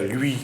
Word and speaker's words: lui: Si on regarde sur le littoral, quand il faut dire lui, on dit li, voilà. Et pour dans les hauts et dans le sud, voilà. On dit lu.